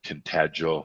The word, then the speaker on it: Tintagel: and we went to tintagel is that how you say it yes and we then we